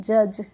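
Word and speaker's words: judge: देना अब है हमारा जे यू डी जी ई तो इसमें हमारी जो डी होती है वह साइलेंट रहती है तो इसको हम पढ़ते हैं जज और जज का मतलब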